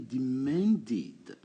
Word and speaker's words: demanded: I demanded, j'ai exigé. Attention, les verbes qui finissent par D, on a le passé qui donne id dans la prononciation. Donc demand, ça va donner demanded. C'est la même chose que want.